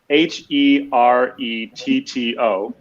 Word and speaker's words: Heretto: It is phonetic, so it's spelled the way it sounds. Although for some reason, people really don't want to put it in their heads that way. So it is Heretto, and it means nothing.